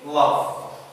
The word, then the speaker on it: love: It's final in the word. لما بيجينا في آخر الكلمة غالبا لا ينطق. Like in love. We don't say lovey. We don't say lovey. We don't say delete. يعني ما بننطقش حرف الـ E.